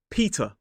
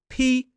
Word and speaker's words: Peter: It is Peter. 2 syllables, stress on the first. P-E-T-A. Peter. So we don't pronounce the final R in this word as an isolated word.